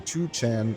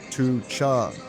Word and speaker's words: Tucheng: I've been pronouncing Tuch Chan wrong way. It's actually T Chung.